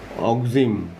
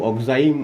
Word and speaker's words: oxime: এই কম্পাউন্ডটার নাম হচ্ছে অক্সিম, কেউ কেউ অক্সাইম উচ্চারণ করেন, একই ব্যাপার।